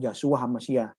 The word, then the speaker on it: Yahshua HaMashiach: Yang benar bukan Yesus Kristus. Itu pengucapan yang salah. Kita harus mengucapkan yang benar, Yahshua HaMashiach. Ini kan kelompok-kelompok Yahwisme yang ekstrim-ekstrim seperti ini.